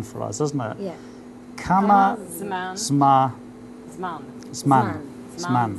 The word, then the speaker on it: כמה: Kama.